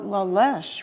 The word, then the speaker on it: La Leche: Could you pronounce it? No, we didn't know in the beginning. We called it La Leche.